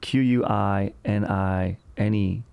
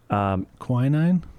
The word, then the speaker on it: quinine: We're talking about isolated QAnon, Q-U-I-N-I-N-E. Quinine?